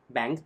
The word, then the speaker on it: แบงค์: call them Bank Yeah is a colloquial shortening of bank note with Simply pronounce it as Bank โอเค แบง์ 20 แบง์